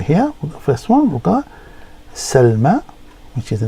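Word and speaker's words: سلمى: beginning or middle and it is a y pronounced as an A okay and it's commonly used for proper nouns such as names so here first one we got Salma which is the name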